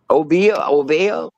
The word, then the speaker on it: Obeah: Obeah.